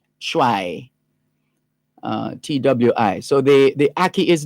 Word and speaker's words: Twi: It's spelled T-W-I, and the pronunciation guide suggests calling it Chwai, C-H-W-A-Y, Chwai, T-W-I.